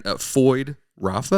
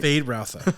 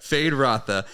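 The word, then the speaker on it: Feyd-Rautha: nephew of the baron FY Rafa am I saying that right fade Rafa yeah fade ra I wasn't saying it right fade Rafa you could have Kirk you're no you're abely wrong it's all right fade rotha and he's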